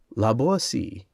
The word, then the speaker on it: La Boétie: La Boétie, footnote. The name of the author should be pronounced with the T sounding like S and rhyming with poesy, accented on the last syllable.